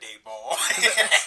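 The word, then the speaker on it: Daboll: Why you say his name like that, Dayball? That's how you pronounce it, dog.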